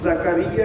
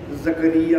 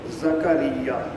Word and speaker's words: زکریا: کر رہے ہیں، لیکن ہم زکریا کی بجائے زکریا بول دیتے ہیں، کاف کے اوپر جزم ڈال دیتے ہیں، حالانکہ قرآن حکیم میں کاف کے اوپر واضح طور پر زبر ہے، زکریا۔ تو صحیح تلفظ یہ ہے۔ سیدنا یوسف علیہ الصلوۃ